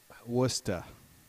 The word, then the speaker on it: Worcester: I called it early pronounced watch Esther WR wor CH yes Worcester Burnett okay all right